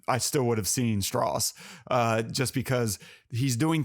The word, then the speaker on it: Strauss: Jr as Strauss it's it's pronounced straws it's the southern way yeah yeah did I did I pronounce it wrong it's not Strauss which is how it's